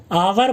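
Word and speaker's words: hour: ऐसा इसलिए हुआ स्टूडेंट्स कि ये जो वर्ड है इसे हम आवर बोलते हैं, इसमें एच साइलेंट होता है।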